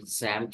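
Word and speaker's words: XAMPP: what does that mean it is not SAS I said zamp server X that this is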